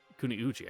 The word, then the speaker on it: Kuniuji: Lord Kunuji seems confused. Kuniuji, I missed a syllable there.